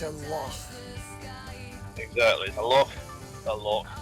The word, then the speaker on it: loch: It's a loch.